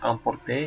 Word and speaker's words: emporter: Misalnya emporter itu agak beda, emporter itu agak seperti ada a-nya. Tapi antara A dan O.